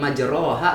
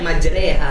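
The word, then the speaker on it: مجريها: harus dibaca bismilahi majreha rok majroha bosannya Tapi bacanya majreha Iya betul bismilahi majreha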